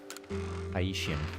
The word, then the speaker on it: Haitian: I think it's pronounced like Haitian, as in Haiti. Haitian, yeah. Don't know how I said it before, but Haitian makes sense.